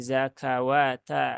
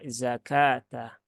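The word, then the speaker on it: زكاة: dibaca waqimus shawata tapiak bukan zakaw ya tapi ya zakata 40 3 sudah kemudian ke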